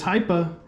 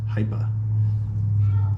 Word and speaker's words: Hipa: and they said it's hypa it is high performance parts that's what that stands for so you say the high like high performance hypa so I was calling it Hippa before CU I just